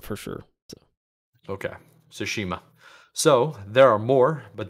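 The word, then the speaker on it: Tsushima: of tomato Tomo but it's definitely the t is silent so sushima sounds better I I definitely don't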